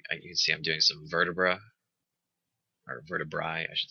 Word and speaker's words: vertebrae: And here you can see I'm doing some vertebrae, I should say. Or depending on your pronunciation, vertebrae. when I took Latin, it was always AE was pronounced as I, but I've heard it pronounced different ways.